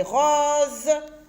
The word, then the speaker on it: roses: Rose, rose, on ne dit pas rose, on dit rose. Pourquoi? Parce que j'ai une voyelle devant le S et une voyelle derrière le S. Et quand j'ai un seul S, le se lit ze.